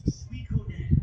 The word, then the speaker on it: Suikoden: It's Suikoden. That's how you say it. Suikoden. Just like that.